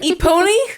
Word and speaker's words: Epona: Epony? Epony. Oh, Eponia.